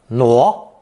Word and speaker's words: 挪: But this time with an added hand radical and pronunciation change. 挪, 挪.